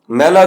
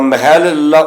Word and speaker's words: महला: अर्थ वाले हो गए सो य उच्चारण महल्ला ठीक नहीं महल्ला द शुद्ध उच्चारण महला बिना अधिक ही ठीक है शब्द महला के उच्चारण